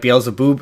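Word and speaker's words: Beelzebub: gets conflated with Satan but it's like it's pronounced it's like Bale Zaboo and it's it's different she does borrow a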